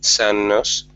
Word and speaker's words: Sean-nós: Sometimes traditional Irish dance classes are available, like Sean-Nós, pronounced San-Nos, at the Mucha, or Saily Kylie at the Dublin Lindy Exchange.